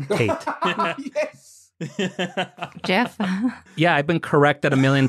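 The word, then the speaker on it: Geoff: grew up calling him g off Pate yes Jeff yeah I've been corrected million times it's not g off Tate it's Jeff Tate but again wow I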